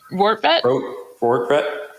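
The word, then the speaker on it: Rortvedt: Ben Rotvert, who we've joked before that. How do you say his name? Ben Rotvert? Rortvet?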